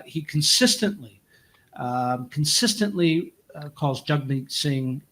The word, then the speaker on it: Jagmeet: consistently um consistently calls jug me Singh Jag meet the pronunciation the correct pronunciation of his first name first name is jug me and so he does